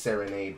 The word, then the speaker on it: Serinade: Yeah, it's pronounced Serenade, but spelled Serinade, were out there embarrassing themselves over Seraphine.